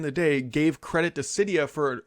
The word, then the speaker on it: Cydia: But the bigger news in the tech sector this week is, I believe it's pronounced Cydia.